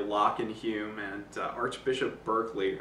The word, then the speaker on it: Berkeley: and Hume and Archbishop Berkeley. I've heard it pronounced Barclay sometimes. I think Berkeley's right.